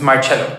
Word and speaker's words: Marcello: Thanks, how do you pronounce it? It's Marcello.